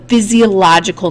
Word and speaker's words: physiological: you say it and you can notice that you've cut you know the word fizzy like from physical and thenal like psychological so um physiological you know that you have food